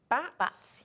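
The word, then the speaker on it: batts: Now, it's called wool bats, yeah, it's spelled B-A-T-T-S, it's just a phrase.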